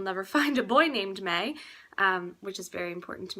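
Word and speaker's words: Mae: It's May, but I like it spelled M-A-E.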